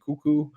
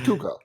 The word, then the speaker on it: Cuoco: How do you say your name? Cuoco, I think. Oh. Cuoco. No, Andy got it. It's Cuoco.